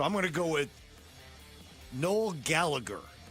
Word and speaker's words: Noel Gallagher: So, I'm going to go with null Gallagher. Nol Gallagher, otherwise known Noel Gallagher, I guess to pronounce it.